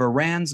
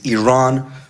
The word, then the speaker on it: Iran: the Iranian people but you're pronouncing our country's name wrong our country is named Iran not Iran please once and for